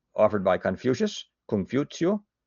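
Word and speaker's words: Kong Fuzi: Kung Futio, I'm certainly mispronouncing that, but Confucious is how we say it here.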